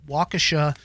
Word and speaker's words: Waukesha: in Waukesha, I believe this is the correct pronunciation, Waukesha, Wisconsin.